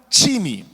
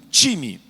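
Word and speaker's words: τιμή: uma origem no grego em grego significa time time igual um time essa é a pronúncia qual o significado é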